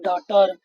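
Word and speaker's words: daughter: तो ये जी एच क्या है हमारा, साइलेंट हो जाता है। जब कभी जी एच टी आता है तो जी एच हमारा साइलेंट हो जाएगा और टी को हम टा पढ़ेंगे तो क्या हो जाएगा, डॉटर, ठीक है।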